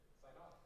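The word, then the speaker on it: Sidon: Saidon. You just added an N to it. No, that's how it's pronounced in English. Saidon.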